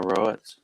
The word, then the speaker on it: Roets: well i mean it's it's spelled like poet so that's why it is row it so whatever wrote right